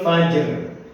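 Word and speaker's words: الفجر: Nah, berbeda dengan dua ini, karena ini adalah huruf qalqalah dan ini juga huruf qalqalah, jadi harus dipantulkan. Lailatul qadr, matla'il fajr, jadi harus dipantulkan. Dua huruf ini harus dipantulkan dan sisanya itu nggak boleh dipantulkan.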